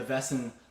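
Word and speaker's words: Väsen: fiddling traditions um and particularly a band called vessen if you don't know vessen really go check them out it's spelled v-a-s-e-n with an umlaut over the a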